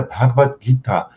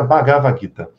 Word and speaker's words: Bhagavad Gita: A pronúncia correta é Bhagavad Gita. Bhagavad Gita. Então, mas aportuguesado fica Bagavad Gita.